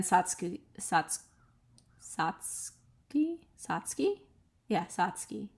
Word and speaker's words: Satsuki: Satsuki Satsuki Satsuki yeah Satsuki I think that's how it's pronounced like you don't say the U I hope I'm right